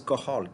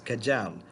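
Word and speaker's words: Cajal: cells are of qahal this is termed as qahal kaj al it's not not pronounced as kajam it is called interstitial cells of qahal so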